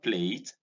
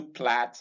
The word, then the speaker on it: plait: This is plat, and this is not plate. You don't plait your hair, you plait your hair. You don't say plate.